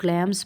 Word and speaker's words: clams: रहा है ये वाला वर्ड, इसको कुछ लोग क्लैम्स पढ़ते हैं, कुछ लोग काम्स पढ़ते हैं, जैसे आपकी मर्ज़ी आप पढ़ सकते